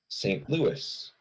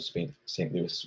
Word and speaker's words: St. Louis: Louis because it is the French spelling of St. Louis, which is said St. Louis. But we just say it's St. Louis because we aren't French.